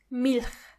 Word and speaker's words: Milch: In the German language, when you see a c and a h together they are ch. It's not a strong ch, but more like a softer one. Ch.